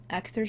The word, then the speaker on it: Axtar: Axtar Shepard. It's how I choose to pronounce this. It is Persian for star.